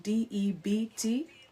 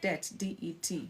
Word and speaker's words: debt: the family as in debt t because the pronunciation is like debt d debt uh that can